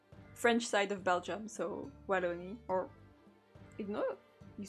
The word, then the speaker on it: Wallonie: Walloon, you mean? Is that how you say it in English? I know it was called like this. Yeah, it's Wallonie in French.